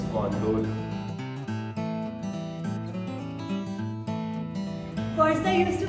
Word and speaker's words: gondola: First I used to pronounce gondola, then I got to know it's gondola.